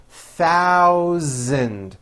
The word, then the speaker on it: thousand: In this paragraph, be aware of my pronunciation of numbers, especially the TH and the voiced Z sound, Z, in the word thousand.